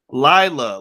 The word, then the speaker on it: Laila: to say laila did i pronounce layla right or said lila lila lila if it's easier just